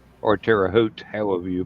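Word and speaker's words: Terre Haute: it so um I I've always heard it Tera Hogue like the t is a G oh okay okay I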